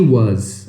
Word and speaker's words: was: E o som do final é um som de Z.